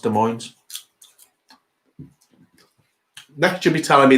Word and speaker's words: Des Moines: Des Moines is pronounced Des Moines.